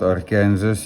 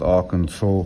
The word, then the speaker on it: Arkansas: I've been told that it's not Arkansas. Yes, I know it's pronounced Arkansas, but I don't see any saw in there, so in any case,